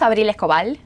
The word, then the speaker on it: Abril Escobal: Uh, my name is Well, my name's Abil Kal. That's the name and that's how you pronounce it, but you can call me.